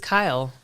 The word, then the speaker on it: Kyle: Who is Kyle? Girl Kyle. Yep, Girl Kyle. Yep. Pronounced just like the boy.